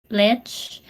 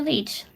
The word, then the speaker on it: lich: be pronounced so it's lich so it's like glitch a glitch in the system but without the g or you can also call me leech like a blood sucking